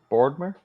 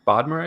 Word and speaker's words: Bodmer: So he shouts out, I'm gonna pronounce this wrong. Adrian shouts out Stephen Boardmer. oh yes. Am I pronouncing that right? Stephen Bodmer, I think. Bodmer. Yeah, I think Bodmer. I think you're correct.